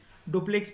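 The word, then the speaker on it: Dupleix: ठीक है, इसको ऐसे ही बोलते हैं, एक्स आई साइलेंट होता है, डुप्ले बोलते हैं हम लोग इसको, डुप्लेक्स भी बोल लो, कोई फर्क नहीं पड़ता।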